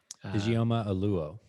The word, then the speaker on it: Ijeoma Oluo: And I don't know how to pronounce the woman's name. Ijeoma Oluo.